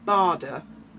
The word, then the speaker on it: Bader: information about him is it's pronounced bada but spelled b-a-d-e-r Douglas Bardon Sir Douglas